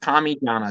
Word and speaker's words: Parmigiana: Is number 1, spell it out. It's an I, and pronounce it Parmigiana.